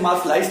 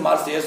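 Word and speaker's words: Marseilles: यहाँ जो देखने में ऐसा लग रहा है जैसे मार्सलाइस लिखा हुआ है, लेकिन मार्सलाइस नहीं, इसका करेक्ट प्रोनाउंसिएशन मार्सेयस होता है, इसे आप ध्यान देंगे।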